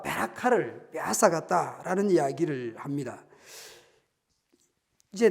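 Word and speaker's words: ברכה: 베코라, 베라카 아주 이렇게 발음상 비슷하고 이렇게 알파벳을 보더라도 상당히 닮아 있습니다. 이 베코라와 베라카를 빼앗았다라는 이야기를 합니다.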